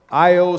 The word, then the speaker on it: Io: Saturnalia's festival of lights was the celebration of the coming new year, and the people would shout, Io Saturnalia, or chant in syllables, short I, long O.